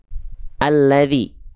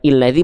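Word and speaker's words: الذي: kan enggak berharakat nah kalau setelahnya lam maka pasti a dibacanya alladzi alladzi alladzi bukan illadzi bukan uladzi ya paham sampai sini insyaallah ya kita lanjutkan kembali alladzi.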